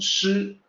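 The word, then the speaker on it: 師: This is pronounced shi, and you will find that in two places, at the end of line 11 and at the end of line 13.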